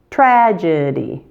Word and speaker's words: tragedy: Tragedy is just the opposite. There's a J sound first and then a D sound. So, strategy, tragedy.